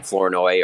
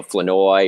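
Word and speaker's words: Flournoy: a Jaylen Tolbert or Ryan floro or or sorry Ryan floi or Jay haven't gotten that right yet I'm still I'm still working on that pronuncio yeah floi well he said it was fine when we asked him when right after he got drafted but since come to find out it's floi but anyway so I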